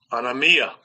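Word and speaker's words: ἀνομία: is what we have let's listen to the pronunciation Scrolls g458 anamia anamia anamia anemia is what we mean here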